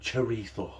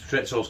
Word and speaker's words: chorizo: Apparently that's how you say it, chorizo.